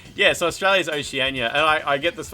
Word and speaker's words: Oceania: OCE is like O Oceanania, Oceanania. I don't know how you pronounce it.